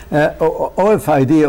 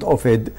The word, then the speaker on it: OFID: That's why I pronounce it Ofid, not Ofid, because, you know, it gives that meaning.